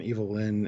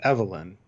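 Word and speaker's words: Evil-Lyn: wrong yeah Skeletor and evil Lin and Beast Man and Merman evil Lin or Evelyn well it's Evelyn okay it's spelled evil then so her name is evil then so it's upon wolves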